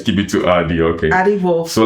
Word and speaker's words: Wolf: It's Wolf. Do I pronounce it right? Right. Yes. Okay. Maybe Germans will say F or whatever.